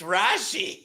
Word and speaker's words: Rashee: It's Rashi. It's Rashi Rice. Rashi It's not Rice? Rasheed.